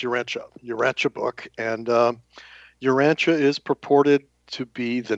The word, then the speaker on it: Urantia: Um, we use the uh the pronunciation of Urancha Cha. So, it's Uranchia Uranche book and um Urancha is purported to be the name of our planet.